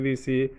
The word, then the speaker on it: the: করে দিয়েছি অফিসের পূর্বে টিএস শব্দটিকে হাইলাইট করে দিয়েছি এপল এফএল এর পূর্বে আমরা শব্দটিকে হাইলাইট করে